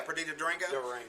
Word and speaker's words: Perdita Durango: The movie was made in 1997, and Perdita Durango, is that how you say her name? Yeah, Perdita Durango.